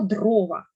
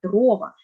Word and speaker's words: дрова: на останній далі слово дрова правильно його наголосили молодці маємо наголошувати перший склад дрова хоча Також ми звикли